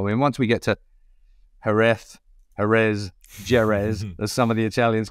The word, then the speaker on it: Jerez: I mean, once we get to Jerez, as some of the Italians call it, Jerez. Everyone pronounces Jerez in a different way.